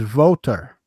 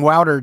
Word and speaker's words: Wouter: So I would assume that it's pronounced the same because my friend's name is Voter, not Wouter, like you would think. I used to call him Wouter just to make him mad.